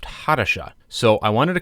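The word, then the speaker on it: Hattusa: part one video in that video I was pronouncing the hittite capital as husa but it was pointed out to me since that video it should be more accurately pronounced HHA so I wanted to correct that for this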